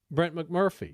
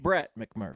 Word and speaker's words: Brett McMurphy: Brent McMurphy. Brett McMurphy.